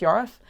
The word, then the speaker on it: Yorwarth: So spelt Yorwarth, but pronounced Yorwarth.